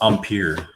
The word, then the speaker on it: Empire: ian's worked with him it's pronounced umpir get out of here